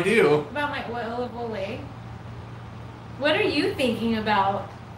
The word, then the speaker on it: Olay: they said they said it's pronounced olay not old lady cream oil of olay i like oil of a way i talked about it